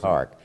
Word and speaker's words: ARC: of Rutherford County and rather than spell it out all the time so easy to say arc but it basically are